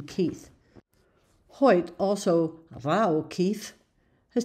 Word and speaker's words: Keith: They do not pronounce the TH in Keith.